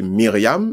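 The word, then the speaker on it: מרים: qui est Myriam, donc, prononciation hébraïque là, c'est Myriam, mais l'autre traduit en français, dit bon, Marie.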